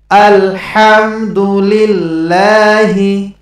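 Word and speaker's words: الحمد لله: আলহাম, এখানে এই হার উচ্চারণ করার সময় প্রথমে গলার ভিতর থেকে একটু হা এরকম একটু বাতাস বেরোবে, তারপরে এই হার উচ্চারণ করতে হবে। তা নাহলে যদি বলেন আলহাম, তাহলে এরকম পড়লে নামাজ নষ্ট হয়ে যাবে। আলহামদুলিল্লাহি, আলহামদুলিল্লাহি রব্বিল আলামিন, রব্বিল আলামিন।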